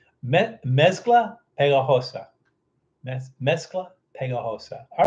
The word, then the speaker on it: pegajosa: I guess the G is silent. So it's that pejajosa. Mezcla pegajosa.